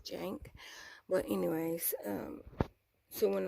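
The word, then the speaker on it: Cenk: to Jank okay my my brain kept want me to pronounce the C and I'm just like you don't pronounce it say that's why I said crank I knew it wouldn't crank because you don't pronounce it say yes Jank but anyways um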